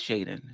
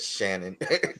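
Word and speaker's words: Shaedon: I like that he has an NBA body, and it is Shaden. Shaden, is that how you pronounce it? Yeah, yes, Shaden. Shaden Sharp. I think I said Shannon, Oh, but okay.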